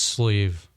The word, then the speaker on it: SLEEV: your name in the music industry uh it's sleeve sleeve yeah got it how do you spell that s l e e v got it